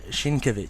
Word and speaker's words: Sienkiewicz: that was wrong again I think the Polish way is a Sienkiewicz so it's a lot more too straightforward there's no emphasis yes yes in switch